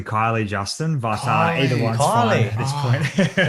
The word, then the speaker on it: Kiely: the surname correctly it's it sounds like keely but it's actually kylie justin but uh holly